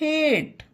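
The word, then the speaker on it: hate: गलत होगा उसी तरह एच ए टी ई हेट एस ए एम E same पढ़ते हैं फेम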